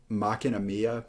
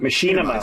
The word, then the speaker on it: Machinima: Macchina Mia music video? I don't know how you pronounce that, but I know what you're talking about. Machinima.